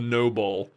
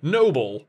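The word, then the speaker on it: Nobull: They're called, the brand is called Noble. Noble. And it's spelled like N-O-B-U-L-L.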